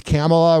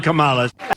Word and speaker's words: Kamala: say it the same way I know it's camela whatever but I like camela to but listen asking the question is dumber than Kamala that's how you say it if Trump says it that's how it's Camala it sounds better camela get the hell out